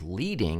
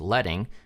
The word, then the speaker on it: leading: we also have leading not to be confused with leading it's pronounced leading and that's a space